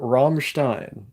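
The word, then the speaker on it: Rammstein: imagination this is true like room roomin but pronounce the ROM as harsh as possible romstein I don't know how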